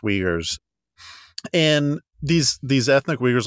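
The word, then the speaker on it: Uyghurs: RS in in English so it looks like ugar but it's pronounced weers and these these ethnic wegers like I said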